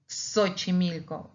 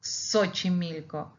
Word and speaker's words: Xochimilco: If we say Xochimilco, Xochimilco, we pronounce, even though it has an X in the beginning, we pronounce it as with two consonants, like K and S, but it's X. So we say Xochimilco.